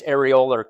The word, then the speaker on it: areolar: So if we look at loose connective tissue, the first category is areolar connective tissue. Areolar connective tissue, that's how you pronounce that.